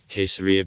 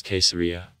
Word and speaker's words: Caesarea: letter therefore there was caesarea pay attention that letter c in classical latin was said k and it finally became